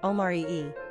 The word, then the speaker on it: Omari: Number of syllables, 3. Ranking popularity, 730. Pronunciation, Omari-e.